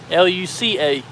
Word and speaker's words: Luca: L U C A, not K A. Watch the Disney movie Luca.